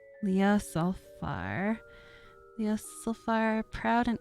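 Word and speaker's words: Ljosalfar: one i'm assuming jay is pronounced as a y leah sulfar yes so far proud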